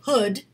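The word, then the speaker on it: Houde: a class go to Hood School of acting not hoodie like a hood but h-o-u-d-e h-o-u -d-e Hood School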